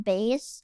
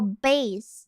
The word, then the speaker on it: bass: It's pronounced bass. Oh, bass, not bass. Bass. Bass. Bass. Bass. Bass. Bass. Not bass is the fish.